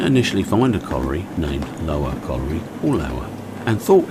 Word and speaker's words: Loughor: Now the Hornby box says that Dodo was made for the Loughor Colliery, Swansea. I'm told by one of my Welsh friends the correct pronunciation is much closer to Lower.